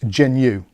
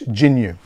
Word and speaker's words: Jginyue: of this one so I'm of the opinion that the J at the start of this is silent so it's just pronounced genu I could be completely